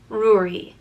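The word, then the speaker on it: Ruairi: name it means red or King and it's pronounced rui ruri and the spelling um can be simplified you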